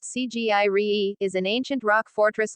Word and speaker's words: Sigiriya: Sigiriya or Sinhagiri, Lion Rock pronounced Cgiri, is an ancient rock